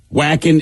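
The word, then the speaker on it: Wacken: as they come in whacking is the biggest metal festival in the world whacking is a huge metal fest now that follows the the w is pronounced as a v not any which is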